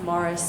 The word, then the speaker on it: Maurice: his middle name cuz his middle name is Maurice but pronounced Morris so they're the morrises